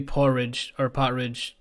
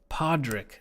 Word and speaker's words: Podrick: Yeah, maybe Porridge. How do you pronounce his name? Podrick.